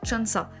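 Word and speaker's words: 천사: porte un autre nom 1004 en coréen ça se dit Chansa et c'est la même prononciation que ange comme le nom de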